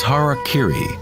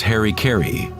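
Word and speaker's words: hara-kiri: one form of ritual suicide or seppuku was Hara Kiri was often mispronounced as Harry kry it means to impale one's Hara thereby cutting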